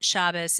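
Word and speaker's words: Shabbos: you don't is that shabas is how you say Shabbat or Sabbath in yish and I don't think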